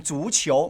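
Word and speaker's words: 足球: ฮะ โอเค ถูก ต้อง ฉู่เฉียว ไม่ ใช่ เขียว นะ ฮะ นา อาย ออก เสียง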